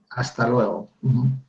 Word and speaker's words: hasta luego: And this has an O at the end, so try that one more time.